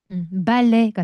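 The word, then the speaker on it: ballet: 브 브 브레 발레음 발레가 되는 거죠. 발레는 프랑스로 발레이고요. 발레의 용어들도 다 프랑스죠. 마지막에 티바음은 하지 않습니다.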